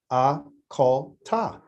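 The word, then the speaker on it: אכלת: So you would say, a call ta. 3 syllables.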